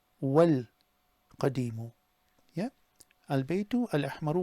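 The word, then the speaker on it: والقديم: Now normally what happens is if there's a wa and the word after it has a definite, you just ignore the alif. So here it becomes Al Baytu Al Ahmaru wal Qadimu.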